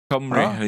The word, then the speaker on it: Cymru: Sweden versus fellow Cymru? What's Cymru? Is that you call Wales? Cymru.